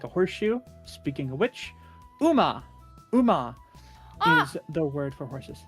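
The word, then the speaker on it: う: Okay, pronounced U as in cool.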